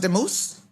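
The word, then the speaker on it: Dumus: Oh, they have it spelled D-U-M-U-S. It's pronounced Demuse.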